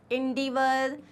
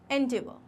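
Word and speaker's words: endeavour: नाउ इसको usually एंडेवर, इंडिवर, बहुत सारे प्रोनाउंसिएशन हैं जो कि सब रॉन्ग है. इसका बहुत बेसिक प्रोनाउंसिएशन है. इट्स एंडेवर. एंडेवर. सिंपल.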